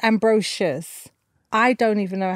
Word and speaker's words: Ambrosius: it deserves reverence ambrosious amazing amazing one more time for me ambrosious is that you said it ambrosious okay so people do say Ambrosius right okay then it's ambrosious I don't even know